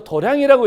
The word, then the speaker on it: 도량: 수행이라고 했던 거예요 그러니 우리가 도장이라고 써놓고 태근 도는 도장 요렇게 읽죠 근데 절에서는 어떻게 읽죠 도량이라고 읽잖아요 그러니까 동일한 운동인데 육체